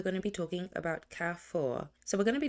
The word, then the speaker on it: Carrefour: So, before I started this audit, I went on Google to find out how to pronounce this accurately, and it's pronounced Carrefour, and it's a famous supermarket in France.